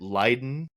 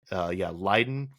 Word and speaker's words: Leiden: This is over the Netherlands, and he follows railroad tracks to a rail yard near at Leiden, I believe is how you say it. Leiden in the Netherlands, and he shoots up the train.